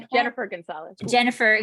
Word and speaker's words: Gunsaullus: Jennifer Gunsaullus. Jennifer Gunsaullus, because it's not written like that.